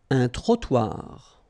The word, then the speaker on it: trottoir: Final not pronounced, and then final T not pronounced. Un espace vert. Un trottoir.